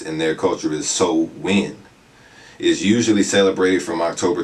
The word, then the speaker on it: Samhain: So in modern times, Samhain, or how it's pronounced in their culture, is Samhain, is usually celebrated from October 31st to November